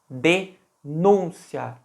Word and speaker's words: denúncia: se escreve com assento reparem que olha a pronúncia denúncia de núncia qual é o som mais forte da palavra o som do U denúncia E aí pelas regras